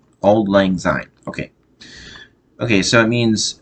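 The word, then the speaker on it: Auld Lang Syne: about that saw okay so it old lang sign old old it's spelled a u l d l a n g s y n e old lang sign okay okay so it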